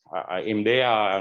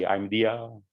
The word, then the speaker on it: IMDEA: This work has been done in IMDEA Networks. There are many ways of pronouncing the name of my company. Many people say IMDEA, some other IMDEA, doesn't matter.